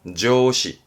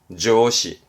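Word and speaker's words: 上司: 발음은 조시, 조시.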